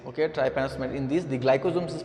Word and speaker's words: trypanosomatids: The pronunciation is really difficult. That's called the trypanosomatids. Okay, trypanosomatids.